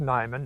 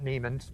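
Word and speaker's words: Niman: I'm the founder of Nimon Ranch, which is pronounced Nimon, not Neimann's for those of you who are in doubt.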